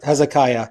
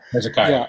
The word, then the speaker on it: Hezekiah: Uh King Hezekia. I think I'm pronouncing that correct, but it's H E Z K I A H. Yeah. He Hezekiah. Hezekiah.